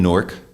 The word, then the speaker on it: Newark: I was born in Newark, New Jersey, one syllable, 1961.